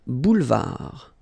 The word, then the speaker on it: boulevard: Final D not pronounced. Un boulevard.